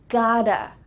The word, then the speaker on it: gotta: That can be reduced to I gotta study English.